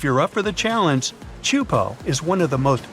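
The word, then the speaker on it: Teahupoʻo: all the name itself is a mouthful is pronounced chupo and it means broken skulls in tahan yeah you heard that right broken skulls the waves at chupo are massive and can reach up to 23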